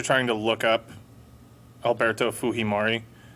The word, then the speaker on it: Fujimori: you guys are trying to look up alberto fuhimari it's the japanese name fujimori but obviously because he is latin american culturally they pronounce it fujimori um also the history of japanese immigrants to